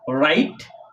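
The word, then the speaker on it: wrong: আর এখানে ডবর পরে আর থাকার কারণে ডাব উচ্চারণ হয়নি। সাইলেন্ট আছে। তার মানে এখান থেকে মূল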